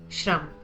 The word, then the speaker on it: shram: The sound of shra is pronounced as shra like the shra in the word shram.